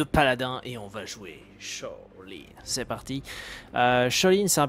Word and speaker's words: Sha Lin: Shaolin plutôt, on prononce pas le H en français.